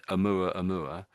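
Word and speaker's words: ʻOumuamua: But the mysterious Oumuamua, and that's a tricky word, that one, isn't it? So, but I think that's how they say it, Oumuamua. Now, there's a little apostrophe up there going inwards, and I think originally this is an Hawaiian word, and so that little apostrophe might mean something, but I don't know what it means.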